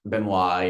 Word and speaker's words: Benoit: Benoit, yeah.